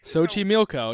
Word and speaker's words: Xochimilco: Today we are diving into the island of dolls located in the Sochi Milo. That's how you say it. No way. Sochi Milco. Yeah, you got it.